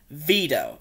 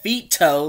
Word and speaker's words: Vito: sound right to me veto not fito like v-i-t-o like italian veto v-i-d-o veto i hated that name